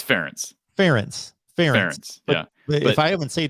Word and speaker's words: Ferentz: It's Ferentz.